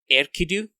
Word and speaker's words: Enkidu: Did you notice that they pronounce Enkidu's name more like Erkidu, like El-Kidu? It's weird. There's a little bit of emphasis where we would say the N sound and is printed as N.